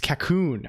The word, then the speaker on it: Colonq: It's Cocoon, a word taken from a New Caledonian dialect based on French.